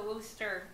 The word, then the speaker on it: Wuster: Smith and Wesson versus, is it the Wuster or the Wooster, or how do they pronounce that? The Wooster, at least I pronounce it that way.